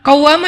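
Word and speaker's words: قوّامة: Qawwamah dari kata qaimah. Qaimah itu artinya orang yang berdiri sholat malam. Kalau rajin sholat malam dikasih tasydid, bacanya jadi qawwamah.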